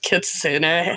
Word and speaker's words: kitsune: It's pronounced kitsune.